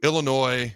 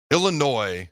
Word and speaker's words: Illinois: All right, when it comes to Illinois, where the S is silent, and Nebraska, here are two keys that stand out to me right now, early on in the week.